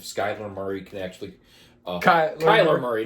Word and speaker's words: Kyler: I think if Skyler Murray can actually uh Kyler Murray not Skyler Murray I don't know why I call him Skyler Murray sorry I think that was one of